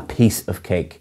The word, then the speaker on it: piece of cake: And again, the pronunciation is a piece of cake. You're stressing piece rather than cake.